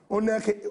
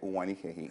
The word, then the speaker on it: Uwanike: And they talk of Oga, Oneke, wait. You don't spoil the name finish. So, nervous. Just pronounce the thing. Make it not be like that. Cause problem. It is Uwanike.